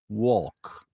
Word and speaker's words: walk: you go for a walk. Dummy. One has an L, one doesn't. I just don't say. I guess I never pronounce the L.